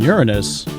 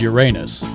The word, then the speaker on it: Uranus: Not the planetary pronunciation Uranus. This is Uranus.